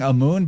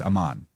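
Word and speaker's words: Amun: that am amoon or Aman I'm I'm saying amoon but it's actually even though it's spelled am mu n it's pronounced Aman so he's got blue skin and he's located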